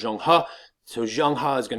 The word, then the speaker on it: Zheng He: his boy, Zheng He, a.k.a. the way you pronounce it is Zheng He, So Zheng He is going to go out.